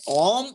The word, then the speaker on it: Om: So what is the right way of pronunciation? Om, so say Om or A, O. Om is right.